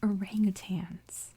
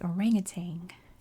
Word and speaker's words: orangutan: said this before but they are orangutans but in my accent here where i live we say orangutang which is not at all how it's spelled but that's what we say and i don't know